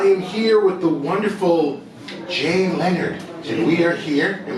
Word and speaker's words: Jay Leonard: I am here with the wonderful Jay Leonard, and we are here. Did I pronounce perfectly? Perfectly. Jay Leonard.